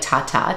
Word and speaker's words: Tata: name is Tata like Tata t-a-t-a it's Italian but we pronounce it tada but the real Italian pronunciation is Tata it's been Americanized through